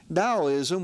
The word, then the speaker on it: Daoism: been through the centuries Daoism was founded by a legendary figure named LA Zoo again the T I understand has um a d sound in the pronunciation so Daoism was founded